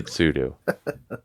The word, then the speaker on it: sudo: who wrote sudo and he pronounced the tsudu and wrote it in the notes so you have to Now Pronounce sudo Sudo because Bob wrote the program if you didn't win